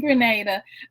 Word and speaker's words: Grenada: She said it right. Yes, she did. She is in Grenada, not Grenada, Mississippi, y'all.